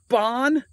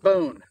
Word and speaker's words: Bohn: body armor jacket yep I even left myself a note Bond not bone I asked Jody how to pronounce it and that's what she said so that's what I'm going with and by the way